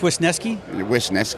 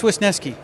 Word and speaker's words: Wisniewski: deal with winiski wisniewski wisniewski yeah it's wisneski it's worsened at least